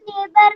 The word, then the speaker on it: neighbor: Ma'am, neighbor में G silent है. Only G. Ma'am, H. Yes, GH is silent.